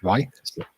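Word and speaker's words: Ruislip: Ricelip. So Like say right. garage, you can't pronounce it. Can you say right and can you say slip? Just put them together. Right, slip.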